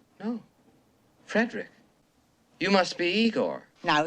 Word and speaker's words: Frederick: hysterically laughing at the absurdity what the it's pronounced frankenstein do you also say frodrick no frederick you must be igor no it's pronounced igor